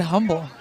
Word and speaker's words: Humble: From Humble, Texas originally. Is that how you say it? It is how you say it. You don't say the H. I've always said humble.